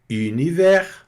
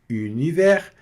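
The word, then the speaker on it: univers: Univer. Univer. Não pronuncio o s no final.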